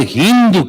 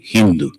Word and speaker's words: Hindu: But these people, they could not pronounce Sa, so it became Ha. Sa became Ha. The Sindhu became Hindu. So the river Sindhu became